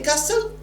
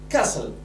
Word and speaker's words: castle: two what we say Castle now we say Castle T is silent please say Castle number three costumer the